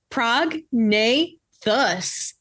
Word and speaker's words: prognathous: Without further ado, today's word of the day is prognathous, spelled Prognathous, pronounced prognathous.